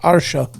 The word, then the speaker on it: Artio: It's ARTIO, but it's pronounced Otter Show.